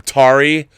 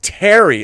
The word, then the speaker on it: Tari: This letter is another letter from Tari Igruz. Although it's pronounced Terry, okay. Instead of Terry Igruz.